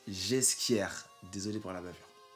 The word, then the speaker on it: Ghesquière: dans mon épisode 4 j'ai dit nicolas ghesquière alors que selon mes sources ouais je me raconte un peu ça se prononce j'ai ce qu'hier désolé pour la bavure